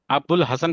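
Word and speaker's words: أبو الحسن: अबुल हसन पढ़ेंगे, अलीफ और लाम, वहाँ क्या रहेगा साइलेंट, अलीफ और लाम क्या लिखा है, कि कभी कभी जो वाव और अलीफ साइलेंट रहता है।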